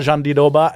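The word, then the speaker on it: Jandiroba: Euh une minute, un commentaire chacun rapide sur Virna Jean Doba qu'on prononce. Virna Jandy Doba et McKenzie, championnat des poids pailles féminin 115 livres.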